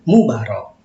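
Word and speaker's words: Moebarok: Misalnya nama Bapak Mubarok belakangnya, dulu tulisannya Moe Barok, tapi bacanya Mubarok.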